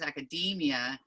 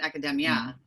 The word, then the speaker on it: academia: particular is academia so the stress is on the e and it's a long it's academia not academia and that can kind